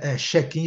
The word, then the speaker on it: check-in: Check-in, check-out. Mas a Okay. pronúncia, gente, em inglês, o CH é TCH, é o che, né?